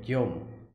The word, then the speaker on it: Guillaume: Let me hear the pronunciation. Guillaume, okay, Guillaume.